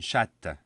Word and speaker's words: chatte: So here again, the last consonant, the T of chat, which is silent, becomes double T's in the feminine, and it's no longer silent. Une chatte.